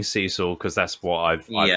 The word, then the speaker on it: Cecil: I was like yeah just a weird weird American way of saying Cecil I don't know I've been saying seesaw because that's what I've